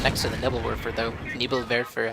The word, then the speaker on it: Nebelwerfer: Nebelwerfer, actually. Pronounce it closer to German. Pretty sure that's still not right.